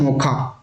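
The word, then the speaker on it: Mocha: किया था मोचा और यह इसको प्रोनाउंस किया जाता है मोखा ठीक और यहां पर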